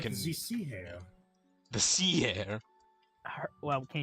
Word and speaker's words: sea hare: And now you Like can the sea hare.